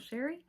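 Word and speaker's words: Chere: It is spelled a little fancy but pronounced plain old Sherry.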